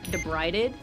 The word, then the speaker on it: debrided: it was actually called like that's how you pronounce it debrided so now every time there is a rud